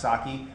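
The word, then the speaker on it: psake: source and run make so uh PS AK pronounced saki but the concept is to use a DSL that's uh similar to make or rake for Ruby um and have that in Powershell so uh saki is a awesome project to look at and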